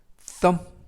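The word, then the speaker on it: thumb: 빗는 빛 이라는 뜻이고요 th 는 이중 자음 으로서 뻔데기 발음 쓰 이유는 어 때문 뭐 그리고 비는 묵음 그래서 썸 썸 이라고 발음합니다 뜻은 엄지 라는 뜻이고요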